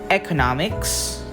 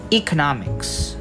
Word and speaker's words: economics: So some examples of free variations are, we have economics and economics. Some use the initial sound E and some use the initial sound E.